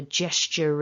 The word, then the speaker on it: gesture: s the hissed s so j s jess which if it was spelt j e double s would be a girl's name in english so jess then we've got that second syllable which i think is a little trickier so we've got the ch sound like at the beginning of the word church we've got a schwa and then that little linking r which would activate depending on what comes next so the second syllable